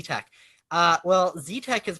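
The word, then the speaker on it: XeTeX: z text bands like z tech uh well z tech is pronounced like that because that's what the article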